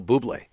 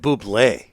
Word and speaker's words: Bublé: I have Michael Bublé.